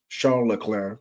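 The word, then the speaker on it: Leclerc: to navigate I think Charles lir charl lir pronounced properly I think he can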